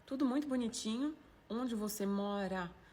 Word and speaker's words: mora: Onde você mora? Donc le R, on ne prononce pas comme en français. Ra, mora. On dit mora.